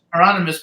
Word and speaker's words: Hieronymus: who says the the bus how do you pronounce the guy's name higher than this Hieronymus Hieronymus Bush he says she's very well known in